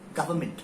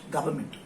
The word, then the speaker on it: government: इट्स गवर्नमेंट, government, government, government, government.